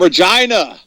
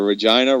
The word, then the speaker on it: Regina: And as I said earlier, Regina rhymes with fun.